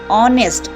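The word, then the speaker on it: honest: है और वैसे ही एच ओ एनई एस टी ऑनेस्ट आप इसको नेस्ट नहीं पढ़ते आप इसको ऑनेस्ट पढ़ते हो तो जब उच्चारण कर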